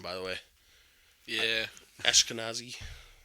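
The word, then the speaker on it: Ashkenazi: the way yeah yeah ashkanazi I don't know how to say it properly so I'm not no that that's how you say it but it has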